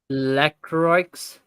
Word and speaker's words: Lacroix: Lacroix. The X is silent in French. Lacroix.